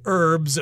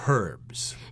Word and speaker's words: herbs: I should note that in America we don't pronounce the h we say herbs herbs and spices but I believe in the UK they tend to pronounce that AG they say herbs and of course an